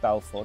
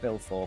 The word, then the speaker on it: Balfour: I think it's pronounced Balfour, not Bilfour, Balfour.